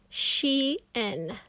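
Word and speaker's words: chien: french c-h-i-e-n means dog you say it like this she n my sister is very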